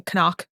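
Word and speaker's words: Knock: the boss the Renfield they kept on pronouncing the K at the beginning koock yeah I really did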